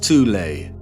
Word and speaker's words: Thule: secret society within germany called the thol society sometimes alternatively pronounced tulay that had sub-factions within